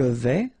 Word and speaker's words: vais: Je vais, final S not pronounced here, and remember when you combine this A and E together, you get the sound E, so really open.